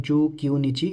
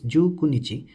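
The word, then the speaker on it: じゅうくにち: It's not Ju Kyunichi, it's Ju Kunichi.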